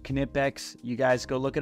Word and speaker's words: Knipex: I do these are the knipex yes it's pronounced knipex you guys go look it up on their